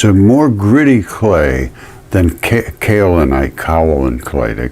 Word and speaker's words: kaolin: There's another form of clay called kaolin clay, K-O-L-I-N, kaolin, I pronounce this. It begins with a K.